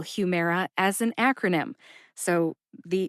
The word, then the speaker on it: Humira: a i r a note that it says air a i r air like the air we breathe right Humera then is a hint